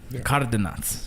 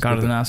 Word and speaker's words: Cardenas: I have Cardenas. Thank you. Did I pronounce that correct? You did. I mean, it can be pronounced different ways. Cardenas. That works.